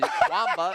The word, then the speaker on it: Kwamba: Kwamba. It's Kwamba to me. I've heard different pronunciations, Chemba, but I like Kwamba.